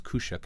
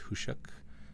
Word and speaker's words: Khusyuk: to use who shucks I thought it was koushik at first but it's pronounced who shook and this card is a the ability is